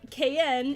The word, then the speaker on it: KN: this one excellent well KN is a 10 10 because that's right it's that's the name I'm supposed to be called It's pronounced like the letters k-n or k n Sonic song 182 is